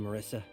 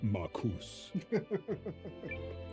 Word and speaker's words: Marus: done it without you Marissa my name is pronounced marus nice try th General Goldwin